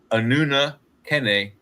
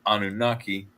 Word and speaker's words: Anunnaki: of what is technically the way they pronounce their name, their their species or their race or whatever they you want to call it is Anuna Kenn and we've bastardized it into Anunnaki, but this is allegedly